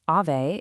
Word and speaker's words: Aave: So Aave, and by the way, it's pronounced Aave, it's actually a Finnish word that means ghost, is what we call a decentralized finance, or DeFi, platform.